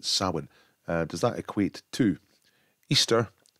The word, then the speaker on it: Samhain: It looks like Samhain, but apparently you pronounce it Samhain.